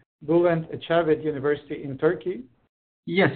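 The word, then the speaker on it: Bülent Ecevit: And today we are happy to have with us Gokhan Bayar from, and Gokhan, please tell me if I'm pronouncing this correctly, Bulent Ecevit University in Turkey.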